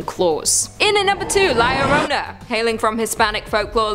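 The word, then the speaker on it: La Llorona: fangs and even claws in and number two Larona hailing from Hispanic folklore Liona which I'm pronouncing correctly now after you guys yelled at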